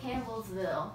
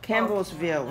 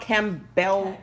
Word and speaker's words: Campbellsville: in campbell wheel cam how you pronounce it chemistry um campbellsville campbellsville not not cam bell yummy looks good